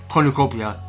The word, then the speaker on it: cornucopia: Well, it's pretty sure it was pronounced cornucopia.